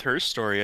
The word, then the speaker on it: Her Story: All right, Goose, have fun with her story. I think you're gonna have some good times. Little known fact, it is actually pronounced herstory, so Okay, I'll make